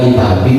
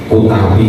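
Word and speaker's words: كتابي: Kemudian ini dibaca Kitabi, tidak dibaca Utabi misalnya.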